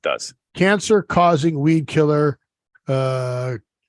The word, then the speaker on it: glyphosate: Or is it Glyphosate.